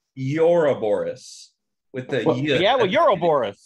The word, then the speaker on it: Ouroboros: It's Ouroboros. It's right? Ouroboros. Ouroboros. It's actually, I looked this up. It's pronounced Ouroboros.